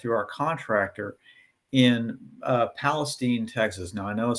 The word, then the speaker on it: Palestine: our contractor in uh Palestine, Texas. Now, I know it says Palestine, but in Texas they pronounce it Palestine.